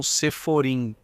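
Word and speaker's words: ספרים: Normalmente os livros que Yaacov tem atrás dele se chamam Seforim. Literalmente, livros, mas com pronúncia em Yiddish e livros sagrados.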